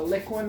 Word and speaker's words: Liquin: people who don't know what that is uh liquin is spelled L it's not liquid it's liquid Li